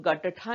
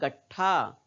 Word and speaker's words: गट्ठा: हम लोग गट्ठा नहीं बोल रहे हैं, हम क्या बोल रहे हैं? गट्ठा। क्यों? क्योंकि ट का उच्चारण आधा ही कर रहे हैं। और आधा क्यों कर रहे हैं? क्योंकि ट के नीचे हल लगा है, बाकी किसी अक्षर